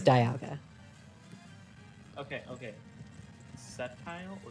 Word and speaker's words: Sceptile: Sceptile or Skeptile?